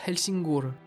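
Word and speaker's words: Helsingør: Elsenur qui en danois se prononce Helsingur qui viendrait du vieux Naoi signifiant le rivage d'elsing.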